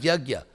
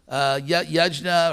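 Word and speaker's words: यज्ञ: There is dravyamayat yagya. Yajna or yagya, it's one of those words which has about 300 pronunciations in India. In Bengal, in East India, it's yoga.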